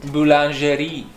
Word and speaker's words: boulangerie: How do you pronounce that? Boulangerie.